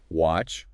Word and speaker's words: watch: Watch versus wash. Got to get those sounds right. Watch TV, wash clothes.